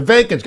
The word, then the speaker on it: Vivek: all the time the vacant I know it rhymes with cake but Selena had already